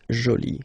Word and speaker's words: jolie: you can see that you put this but then you don't pronounce it okay so it's Jolie so basically the two